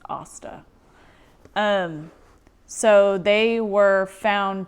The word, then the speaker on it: Asta: sorry about that uh osta not like aang it's kind of like what m night shyamalan did with ong it's asta um so they were